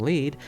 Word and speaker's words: Lied: incest anime elfant lied it's pronounced lead you [ __